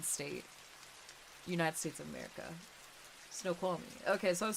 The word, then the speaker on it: Snoqualmie: Snoqualmie.